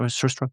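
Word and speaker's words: surströmming: You open your book with kind of a very personal story about um the subject of curst straw maybe. Am I pronouncing it? Cstrom.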